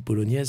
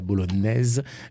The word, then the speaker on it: bolognaise: Donc voilà pourquoi spaghetti à la bolognaise, niaise, comment dirais-je, le mot niaise, en tout cas le son niaise, vient de la prononciation à l'italienne, bolognaise, mais c'est un N et ça n'est pas un GN.